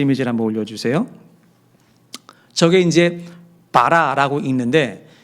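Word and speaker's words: בָּרָא: 저게 이제 바라라고 읽는데 이 바라는 단수 동사예요.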